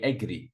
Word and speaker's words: agree: second syll advise agree a lot of students say agree I agree no I agree agree convince see second not